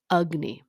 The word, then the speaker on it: Agni: be vitamin deficient so ayurveda calls the digestion process ugne it's spelled Agni so it doesn't really look like how it sounds but in ayurvedic treatment